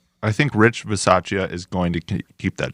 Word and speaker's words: Bisaccia: because I truly think that, how do you pronounce his name again? Rich Bisaccia. I think Rich Bisaccia is going to keep that job.